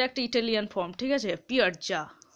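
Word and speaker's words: piazza: একটা central পিয়াজা একটা Italian form ঠিক আছে পিয়ারজা উচ্চারণটা হচ্ছে পি আই A double Z এ ঠিক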